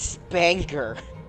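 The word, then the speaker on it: SPNKr: it's called the spanker well it's s p n k r but when you try to pronounce that it's spanker you know it's funny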